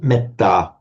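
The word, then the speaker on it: metta: it will be compelled to be short if it is followed by a double a consonant cluster or a double consonant. Um I'll give you one very obvious example and that example is uh for example meta meta meta.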